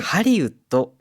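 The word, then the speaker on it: 聖林: はい、答えはですね、これ、はいハリウッドなんですね。ハリウッド。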